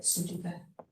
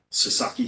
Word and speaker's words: Sasaki: how do you say that, Sudoku? Sasaki. Sasaki. Thank you, I'm going to know some Sudoku because I'm thinking of puzzles.